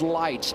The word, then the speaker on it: Lights: And I said, I just want to make sure it's it's lights.